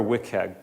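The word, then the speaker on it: WCAG: regional and does move faster and that's where wickhead comes into play so web content accessibility guidelines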